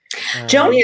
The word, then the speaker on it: Joanie: all right joan uh am i pronouncing it right joan i keep on calling you joanie joney is my full name actually and then i just go by so either one is fine all right so joan